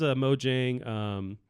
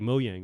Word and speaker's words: Mojang: cross-contamination yeah cross play there is mojang or actually it's like mo yang right so proper way to pronounce it I know it's like